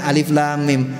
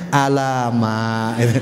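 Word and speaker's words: الم: Zaman saya tahu bacaannya alif lam mim. Anak sekarang yang nggak tahu itu bacanya alama.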